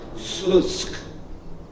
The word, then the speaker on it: Slucki: Uh it's spelled s l u c k i, the Polish version of a town in Belarus, Slutsk. And the c has a dot on it for the ts sound.